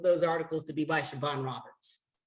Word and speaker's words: Siobhan: S-I-O-B-H-A-N. B-H-A-N. S-I-O-B. And how do you pronounce that?